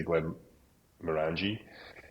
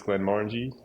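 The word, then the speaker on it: Glenmorangie: people in the UK would say Glenn Morani, but I believe it's Glenn Morangi.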